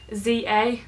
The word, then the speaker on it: ZA: of the new products from Za that's a correct pronunciation and I'm going to